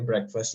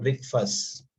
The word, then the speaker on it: breakfast: Nah, teman-teman, saya ingat kemarin itu ada yang pakai breakfast juga ya, tapi kurang tepat di cara bacanya. Nah, jadi ini tuh cara bacanya break, bukan break. Bukan breakfast. Oke. Bukan breakfast, tapi breakfast. Break pakai E.